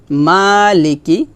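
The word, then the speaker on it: مَالِكِ: ইয়াও ইয়াও মালিকি ইয়াও এখানে দেখুন মা এটা হচ্ছে মধুর হরফ এক টান হবে কারণ আমরা শিখছি খারা জবর খারাজ উল্টাপাল্টা পেশ আসলে মধু হরফ হয় মধু হরফ হলে এক লিফ টানে পড়তে হয় লাম জের এটা হরকত হরকতে টান নাই কাফজের কি এটাও হরকত টান হবে না ইয়া ওয়াও জবর ইয়াও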